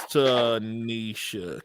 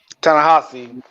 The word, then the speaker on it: Ta-Nehisi: That was Tanisha Coates. Ta-Nehisi.